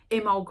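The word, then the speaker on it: Imbolc: so far we've got imul which is spell imul but it's i m b o l c imol on February 2nd and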